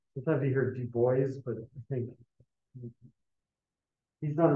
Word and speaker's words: Du Bois: That's the correct pronunciation. Sometimes you hear Du Bois, but I think he's on record saying that it's pronounced.